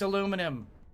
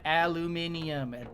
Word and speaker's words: aluminum: there's only one way to say it it's aluminum you are wrong not aluminium that word does not exist all right uh